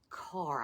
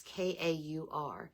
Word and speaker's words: Kaur: And that's by Rupi Kaur, I guess is how you say the last name. It's Kaur.